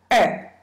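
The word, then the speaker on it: 二: Number two is R. R is a fourth tone. Please think this way. How many ears do you have? Two, right? Just remove the E sound and keep the R sound.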